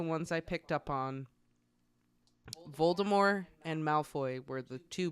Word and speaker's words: Voldemort: way it's it's a French name you don't pronounce the consonant at the end of the word it's Voldemort and she's like I know it's correct but